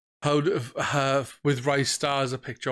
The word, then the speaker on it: Ristar: So I remember seeing something where someone was saying, how with Ristar as a picture, or Ristar, I believe it's actually pronounced.